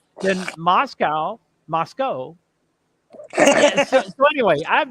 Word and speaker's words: Moscow: believe I do believe all the people locally call it Moscow like c-o-e okay go but just